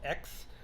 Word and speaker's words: Aix: rose it's called uh it's got aix but it's pronounced x uh it's a very